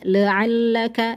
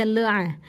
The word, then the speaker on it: la'allaka: Keseringan kita baca kalau ada huruf ain seperti ini bacanya la'allaka, la'allaka. Hati-hati, jangan dibaca la'a, tapi dibaca la, dibuka rahangnya.